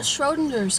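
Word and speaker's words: Schrödinger: Like Schroeder. Schrodinger, like rodent.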